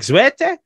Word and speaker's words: Zwarte: this a French thing it is not a French steak it is you're saying it yeah yeah but it's a it's a it's more like zwete I I feel like